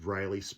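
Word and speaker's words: Ryle: The main character, I think it's pronounced Riley, spelled R-Y-L-E, is played by Justin Baldoni.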